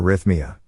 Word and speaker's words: arrhythmia: Arrhythmia, pronounced as arrhythmia, signifies an irregular heartbeat, indicating a departure from the usual heart rhythm.